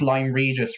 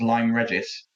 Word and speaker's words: Lyme Regis: And, like, I don't buy you, especially when you said you pronounced Lyme Regis wrong as Lyme Regis.